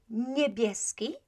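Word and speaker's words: niebieski: for the color blue p right again n i e b i e s k i so nebieski right spelling uh and spelling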